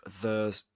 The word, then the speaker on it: the: mentioned to you before, the word the, this one is pronounced as the right before vowel sounds. So, such as escaped, E, as in escaped. Okay, so let me change that a bit. And the title is The Escaped Man. Okay, that's enough. Here we pronounce it as this one as the, because this one is a vowel sound.